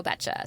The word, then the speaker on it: Beccia: Um, so I just barely learned what her last name was and now I've learned how to pronounce it and it's great. Willow Betcha.